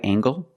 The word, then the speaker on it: angle: Is this a right angle? That's right, this is a right angle. Use the nasal plus the hard g.